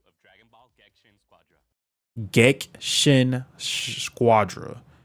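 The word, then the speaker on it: Gekishin: Gexshin Squadra. So the I is silent. Is Gexshin Squadra.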